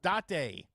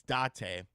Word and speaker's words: Date: It's not date. It's Dante from the AI Sominum Files is a physical game, but it's a digital game key card.